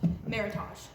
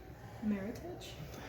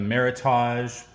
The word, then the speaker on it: Meritage: Meritage. Interesting. Because I got beat up on the internet. Why? Because I said it that way. And they said it's supposed to, it rhymes with heritage. Meritage?